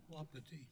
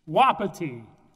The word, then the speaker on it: Wapiti: See if I can pronounce this correctly. Wapiti Energy. Wapiti. Wapiti.